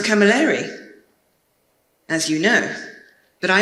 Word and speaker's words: Camilleri: It's pronounced Camilleri, as you know.